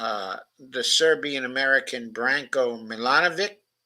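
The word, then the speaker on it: Milanović: the Serbian American Branco milanovic I think it's actually pronounced um um actually milanovich but I may be mistaken there and Colombia's former Finance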